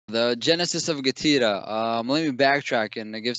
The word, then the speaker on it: GETIDA: The genesis of GETIDA. Let me backtrack and give some context about GETIDA itself. I pronounce it GETIDA. You can actually also pronounce it GETIDA.